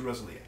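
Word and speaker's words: Rosalía: yes listen to me listen to rosalia which is apparently how you pronounce it yes little Spaniard music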